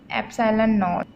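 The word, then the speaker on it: epsilon naught: इसको मैंने क्या बोला, प्रोनाउंस किया इसको मैंने एप्सिलॉन नॉट। एप्सिलॉन होता है ये ई टाइप जो है ग्रीक लेटर, और ये जो है इसको हम लोग नॉट बोलते हैं, एप्सिलॉन नॉट। इसको प्रोनाउंस किया इस तरीके से।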